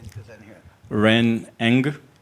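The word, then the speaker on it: Ren Ng: Ren Eng, How do you spell it? N-G. Oh, just that? Yeah. Well, how would everybody know that?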